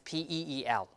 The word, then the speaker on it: peel: e a l peel P here in this position what do you think is the alone of that P is one syllable so it's always a stress syllable right and then so in that case we have a aspirated so it's pH here peel okay because it's one